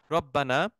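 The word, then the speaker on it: ربنا: রব্বানা হে আমাদের রব, রব্বানা, এখানে ইয়াটা সাইলেন্ট আছে, ইয়া রব্বানা, অর্থাৎ এখানে রব্বানা হয়েছে, আদারওয়াইজ এটা রব্বুনা হইতো, এটা আমাদের বেসিক ক্লাসের স্টুডেন্টরা বুঝতেছেন যে কেন এটা মানসুব ফর্মে আছে।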